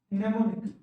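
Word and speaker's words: mnemonic: इसको क्या बोलते है मनेमोनिक क्या बोलते इसको ने मोनिक क्या बोलते है उसको नेमो निक अब य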